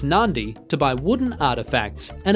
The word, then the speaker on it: Nadi: live spend some time in nadi pronounced Nandi to buy wooden artefacts